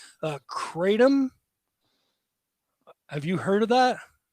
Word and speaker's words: kratom: they're serving I and I might butcher this pronunciation uh katum have you heard of that no is it